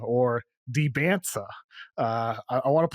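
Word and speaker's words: Dybantsa: Debonsa. Just forget the T. Silent. Debons.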